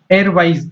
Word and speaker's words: Erwise: वेब ब्राउजर जो था उसका नाम क्या था, एयरवाइज, ERWIAZ। अब इसका प्रोनाउंसिएशन आप चाहे जैसा करें, स्पेलिंग होती है ERWISE।